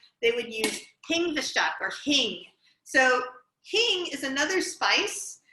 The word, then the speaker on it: hing: would use kingshak or hing so king is another spice that um again